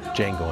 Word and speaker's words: Django: Django Unchained. What's your name? Django. D-J-A-N-G-O. The D is silent.